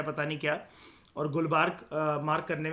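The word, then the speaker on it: गुलबर्गा: मतलब टू be precise गुलबर्ग जो है वो वैसे आंध्र प्रदेश के अंदर है। ठीक है, क्रॉस चेक कर लेते हैं, कोई बात नहीं। वो ए साइलेंट होता है।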